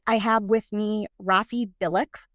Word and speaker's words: Bilek: Tonight, I have with me Raffi Bilek, rhymes with acrylic, and he is an author and a social worker, and he has written a book called The Communication Book.